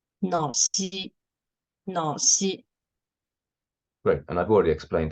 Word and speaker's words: Naxi: Na here means black, as you said just now, and Xi means person here. So the Q, letter Q, is the symbol of falling tone here. So it should be pronounced as Naxi.